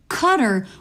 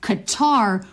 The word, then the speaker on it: Qatar: The first thing is we can imitate the stress. So it's first syllable stress. So cutter would be more accurate than Qar which has second syllable stress.